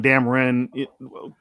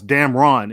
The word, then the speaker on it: Damron: It's Damron, Damren, whatever. But you pronounce it one way, right? Right. I pronounce it like it sounds. Damron. It's RON. But if you're from the South, you'll say Damren.